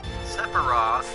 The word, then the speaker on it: Sephiroth: Sephiroth, that's how we pronounce it anyway, will come into play much later.